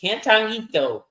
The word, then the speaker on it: cantarito: Cantarito. So I'm glad you pronounced it. Cantarito. I'm not gonna try. Not gonna try. You gotta roll the Rito.